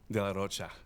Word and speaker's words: de la Rocha: Man, Zach de la Rocha. I have to say it like Spanish.